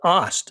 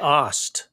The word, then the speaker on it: Ast: It's Ost, Nick Ost. Yeah, weird pronunciation. Looks like Ast, just spelled A-S-T.